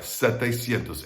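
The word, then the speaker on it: setecientos: now 700 changes a little bit you're gonna take the word for seven but we'll take the eye out of it we're gonna add it to sientos that way you don't have that uh yay syllable i talked about earlier that ie syllable twice in the same word there you've got um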